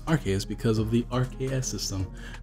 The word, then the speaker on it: Arceus: lately as soon as possible or attack with our key as a soon as problem possible so Arceus it's pronounced our key is because of the rks system that sil valley